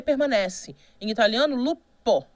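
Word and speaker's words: loup: p vira B né e em francês tá escrito um p ali tá mas a pronúncia é Lu você não fala esse P né outro exemplo fogo né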